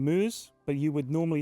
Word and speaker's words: Mooz: moose from Beast Coast has told me to pronounce his name moose but you would normally say it MO is